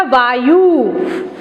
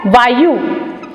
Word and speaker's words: वायु: तो हमने उच्चारण में भी क्या बोला? वायु। ये गलत है। सही शब्द क्या है? वायु, अर्थात य पर छोटे उ की मात्रा।